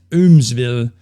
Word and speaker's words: Eumeswil: I don't even know how to pronounce this in English, but in the book itself, it says you're supposed to pronounce it as Eumeswil, in German, of course.